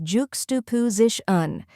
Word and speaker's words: juxtaposition: pronounce it with confidence the correct pronunciation is Juku zishan let's break it down first we have juk K which sounds like the beginning of jukebox with a J sound next is Stu which